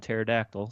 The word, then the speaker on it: pterodactyl: your chicken egg yeah cuz the P is silent pterodactyl so right yeah there's